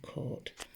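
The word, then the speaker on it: caught: Look at that word there, court. K or T, court. Let's sound it out. Let's spell it out.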